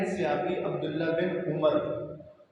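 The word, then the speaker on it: عمر: अमर और उमर दोनों एक ही तरह लिखने में आते हैं, ऐन मीम रा, लेकिन फ़र्क कैसे करेंगे कि इसको उमर पढ़ना है और इसको अमर पढ़ना है। जिस ऐन मीम रा के आखिर में वाव हो उसको आप उमर नहीं पढ़ेंगे, अमर पढ़ेंगे।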